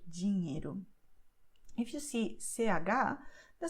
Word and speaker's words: dinheiro: In Portuguese, when you see NH, you're going to pronounce like in French when you say cognac. Okay, so you say dinheiro.